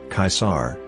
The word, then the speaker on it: Caesar: In Greek, during Caesar's time, his family name was written Kappa Alpha Sigma Alpha Rho, Caesar, reflecting its contemporary pronunciation. Thus, his name is pronounced in a similar way to the pronunciation of the German Kaiser or Dutch Kaiser.